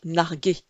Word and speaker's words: narguer: Attention à ne pas oublier le U, de telle sorte que le verbe se prononce bien narguer.